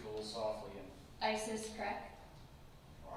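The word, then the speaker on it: Krech: again you speak a little softly and Isis CRA all right you spell that me first and last name Isis I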